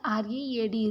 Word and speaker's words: read: Here read, read for past tense, that same spelling but pronunciation differs for past tense.